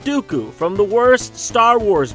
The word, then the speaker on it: Dooku: the white and the rhymes with poopoo count dooku from the worst star